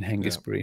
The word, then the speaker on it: Hengistbury: should be a henge it's hengist it's a hard g in hengistbury head uh yes and also